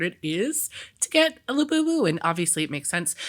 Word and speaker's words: Labubu: We have number 2 Pop Mart for capitalizing on the Labubu craze with live streaming, gamification, and a bunch of other things. It's Labubu.